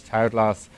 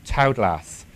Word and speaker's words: Taoglas: And Tau is, I suppose, the Chinese way, and glass is the Irish for green.